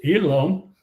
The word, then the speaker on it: Elam: And so they took the name Elham, which got pronounced Elam.